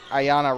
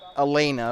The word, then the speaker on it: Ayana: It looked like an L, but it wasn't. It is Ayana Rush. So not Elena, like I've been saying all day.